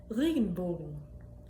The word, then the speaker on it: Regenbogen: The first word is made up of two words. The word for rain and the word for bow. Regenbogen. Regenbogen. Regen. Regen. Bogen. Regenbogen.